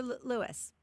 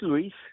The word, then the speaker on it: Luis: Is it Luis or Lewis? It's Luis.